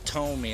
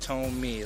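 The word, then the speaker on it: Thome: name is pronounced Jim Tomy a lot of people pronounce it th th to It's pronounced to me like in toe and me you know he was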